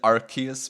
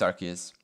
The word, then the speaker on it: Arceus: Personally, I pronounce it Arceus, but I don't think it really matters. I don't know which one is actually correct. But yeah, it's Arceus.